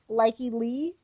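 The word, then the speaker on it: Lykke Li: Oh, we had Get Some by Likey Lee. That's the song that Shauna is breaking into Iron Heights to. It's an awesome song, cool. Really cool video. Google schmoogle it. Likey is spelled Lykkeli.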